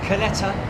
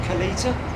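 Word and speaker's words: Kalitta: Kleta as I call it as it's pronounced correctly. not Khalita as I used to pronounce it way back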